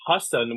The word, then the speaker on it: Hassan: So I came out here and I used Hassan, which is like the way that you would pronounce my name if you're speaking Urdu or if you're a South Asian person.